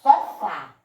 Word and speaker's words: sofá: Qual é a sílaba tônica de sofá? Qual foi a sílaba que eu falei com mais força? Exatamente, é o pedacinho fá.